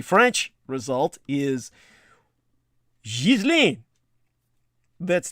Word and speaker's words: Ghislaine: Indeed, the very name Ghislaine is of French origin, and in that language is pronounced with a soft G, like in the words général or magique, or a hard and audible S like sac or sorry, and a hard A like gate or aim.